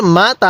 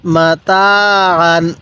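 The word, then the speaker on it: مَتَاعًا: টান দিব তাহলে মা আবান এরপরে মিম জবর মা তা আলিফ জবর তা আইন আলিফ দুই জবর আন মাতা কিভাবে শিখবো মাতা এরপর মিম পেশ মু আলিফ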